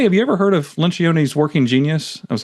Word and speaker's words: Lencioni: Is that how you pronounce his name? Patrick Lencioni.